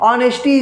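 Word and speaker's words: honesty: सीधे-सीधे क्या बन जाएगा सीधे ह को साइलेंट कर लीजिए ना तो हो गया ये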